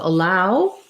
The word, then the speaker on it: allow: So allow is going to have a schwa, second syllable stress, and the OW is going to say ow, like as in ow, that hurts.